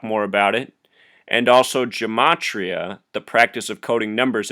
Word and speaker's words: gematria: type in how to gematria and gematria is geem like Jim 80 RIAA and I've been told it can also be pronounced gamay tria but anyhow that's how